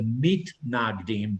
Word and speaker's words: mitnagdim: so they were called again pronounced in Yiddish, the Misnagdim. Literally in Hebrew, it's the mitnagdim, but they were known as the misnagdim, those who were the opponents.